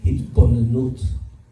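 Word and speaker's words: התבוננות: But the practice that we use in the Chabad tradition is hisboinenus. Hisboinenus, or the contemporary pronunciation might be hitbonenut, comes from the Hebrew word binah, and binah means understanding.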